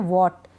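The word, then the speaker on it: what: dull H ए टी अब इसमें एच नहीं पढ़ते हैं हम एच साइलेंट रहता है व्हाट वीट वल व्हेन वेयर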